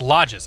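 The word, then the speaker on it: Lajes: the aors for sure it's pronounced lodges okay as in ski lodges so it's lodes lodes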